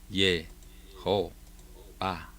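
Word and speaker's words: יהוה: recordemos que la Hei es una H soplada y la O sonaría Jo. Y después tenemos la Bab y la A y la Hei, que al final de la palabra suena muda, como una sílaba compuesta, Ba. ¿Cómo suena? Ye, Jo, Ba.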